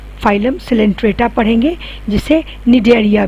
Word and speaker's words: Coelenterata: आज हम लोग 11th क्लास में फाइलम सिलेंट्रेटा पढ़ेंगे, जिसे निडेरिया भी कहा जाता है। ठीक है, सी साइलेंट है।